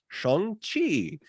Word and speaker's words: Shang-Chi: it, so trust me, the way this is pronounced is Shang-Chi and the Legend of the Ten Rings.